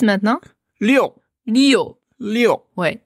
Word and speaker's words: 六: qu'on a tendance à prononcer Liu à la française, hein, Liu ou Liu, comme Lucie Liu.